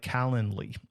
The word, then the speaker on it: Calendly: Then you can set up a tool like Calendly. It's like calendar, but not calendar. It's Calendly.